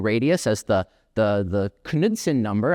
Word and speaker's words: Knudsen: as the the the Kudson number. I found out you're supposed to pronounce the K. I'll probably say Nudson number by by accident throughout this talk.